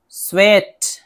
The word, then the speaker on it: SWEAT: SW से शुरू होने वाला, जैसे स्वीट, स्वीट, स्वेट। एक होता है डबल E से SWEET, स्वीट, मिठाई, और एक होता है SWEAT, स्वेट, इसको पढ़ेंगे स्वेट, इसका माना पसीना होता है।